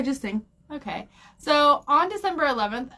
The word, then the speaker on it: Singh: say her last name how do you say that oh Sing Sing yeah just sing okay so on December